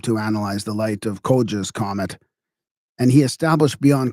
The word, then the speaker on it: Coggia: I gotta check the pronunciation of that. I missed that one. See, I'll use my assistant here. Koja.